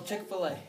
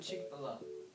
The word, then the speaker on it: Chick-fil-A: gonna do this no chick-fil-a well maybe let's yeah some people pronounce the cheek below but i say chick-fil-a well let's see let's